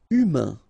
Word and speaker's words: humain: Humain. Remember, H doesn't exist. So, U, then A-I-N together. Un. Humain.